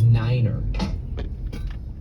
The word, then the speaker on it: niner: You know, pilots are supposed to pronounce numbers in a really funky way. Like you're supposed to say tree instead of three. You're supposed to say five instead of five. Uh, and then nine is niner.